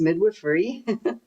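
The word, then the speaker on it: midwifery: plenty project where I taught 14 Mayan women midwifrey. So, and that so that's how you pronounce it. It's midwifrey.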